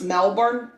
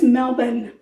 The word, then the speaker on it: Melbourne: I've watched the Housewives of Melbourne, and that's how they talk. I think it's Melbourne. Not Melbourne. Melbourne is the way they pronounce it. I'm pronouncing it the way it's spelled.